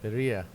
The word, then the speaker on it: birria: Birria. Oh, birria. Yeah. Birria. Okay. Yeah. I didn't roll my R's. I just didn't catch it. Well, it sounds different. Birria. You gotta roll your R's, man.